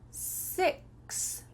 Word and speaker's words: six: Six, six. Sex. Make sure that when you say the short I sound, it is your lips are raising here towards your nose. Six.